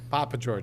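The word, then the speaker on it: Papageorge: Papa George, Just just the way as it's it's spelled. spelled.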